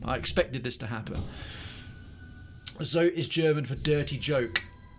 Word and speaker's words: Zote: Oh, it's pronounced Zote.